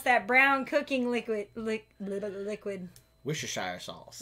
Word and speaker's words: Worcestershire: How do you pronounce that brown cooking liquid? Liquid. Worcestershire sauce. Worcestershire. No, Worcestershire.